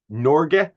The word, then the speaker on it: Norge: Um just for clarity, the Nor is the Norwegian pronunciation depending on what source you look at.